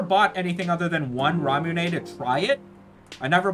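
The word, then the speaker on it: ラムネ: imported in Japan they called it ramune as like the Japanese Katakana pronunciation of lemonade lemonade and now it's just all called ramune if it's in the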